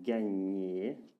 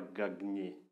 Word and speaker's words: gagner: Comme dans le verbe gagner. Et s'il vous plaît, ce n'est pas gagner. Gagner. Vous vous entendez? Non, gagner. Gagner.